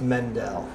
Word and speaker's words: Mendel: for the record, It's Mendel. Mendel. Yes. Mendel. Mendel. Mendel. Mendel. Like Mendelssohn.